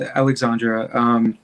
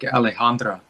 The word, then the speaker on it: Alejandra: Yeah, so I think with Alexandra, and I pronounce her name like that, and I don't know, there was some miscommunication about her. She told me the actual pronunciation is, I think, Alejandra. Oh. So, and the sort of Americanized version, I guess I came up with Alexandra.